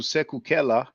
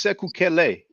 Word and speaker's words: Sekou Kele: Reggie, Reggie is here doing this live stream called My Rebuttal to Sekou Kela. Africans have no power. Now it's Sekou Kele. It's a E before the H.